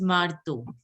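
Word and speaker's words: marteau: So it is this word you will pronounce as hammer is pronounced as marto.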